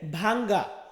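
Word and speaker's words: vu: তো এর পরবর্তীতে আছে তি, মানে আমরা বলি টি, ইতালিয়ান ভাষাতে আমরা এটাকে বলবো তি।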